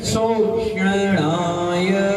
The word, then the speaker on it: शोषणाय: तो नमो सिद्ध भवो दति शोषणाय, शोषणाय है, सीटी निकलेगा फिर तालु में टच हो जाएगा, तो वो सही उच्चारण आएगा।